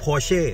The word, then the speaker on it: Porsche: อ ก เ สี ย ง ว่ า Porsche ไ อ้ ช ะ เ นี่ ย อ